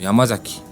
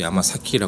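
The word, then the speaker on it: 山崎: 성이라고 하더라도 예를 들어서 뭐 야마자키 이런 성을 뭐 야마자키고 읽을 때도 있고 야마 사키라 읽을 때도 있고 그리고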